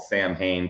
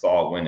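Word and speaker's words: Samhain: they've been talking about Halloween, it's also called Sam Hayne, pronounced Sawin and Gaelic Sawin that you know, this all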